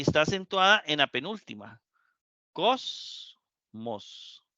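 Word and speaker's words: κόσμος: Cosmos. Cosmos. 2 sílabas. La mos, la última, y la cos, la penúltima.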